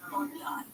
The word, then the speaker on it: Bondi: It's Bondi. It's Bondi. I'll give you a little education. It's an indigenous word, and the original word is Bundi, which means sound of pressure waves. The word pronounce it Bondi.